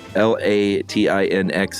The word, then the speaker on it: Latinx: Um, L A T I N X is pronounced, she says, Latin X.